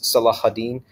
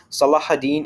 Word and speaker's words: Salahuddin: entire film or as Saladin as you might see it's spelled in English in reality it's salahuddin Salah is like a